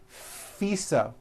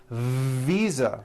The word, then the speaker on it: visa: her International fisa correct no I said fisa with an unvoiced F I should have said Visa with a voice Visa Visa living I am living